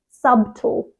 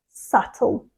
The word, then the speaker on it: subtle: wrong because they pronounce the b so they say something like subtle subtle but it's subtle for example I like